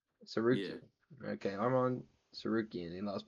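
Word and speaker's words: Tsarukyan: Tarukin Teruskin. I was close to it. The the T is silent. Suian Sukian.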